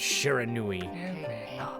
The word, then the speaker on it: Shiranui: Also, yes, that's how these names are pronounced. The wolf kept a watchful eye on anyone who ventured outside the village, and made a habit of patrolling the streets at night. People assumed that the wolf to be a familiar of Orochi. This is Japanese language, so they pronounce all the vowels the same.